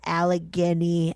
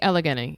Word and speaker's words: Allegheny: They all do an episode at Trans Alageni. I said it wrong. Allig. Um, sorry. I I think you got it. I think Alageny. Yeah.